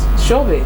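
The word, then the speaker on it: Shobhit: All right, Shobit. Yeah. That's the pronunciation.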